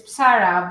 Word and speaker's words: Psarra: I said your last name wrong. It is Psarra, right? It's Psarra, but is becoming my last name as well.